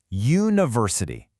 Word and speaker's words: university: University. That first sound is a Y, which is a consonant sound.